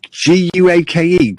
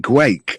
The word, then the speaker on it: Guake: Oh yes, Guake, Guake. I think it's pronounced, isn't it?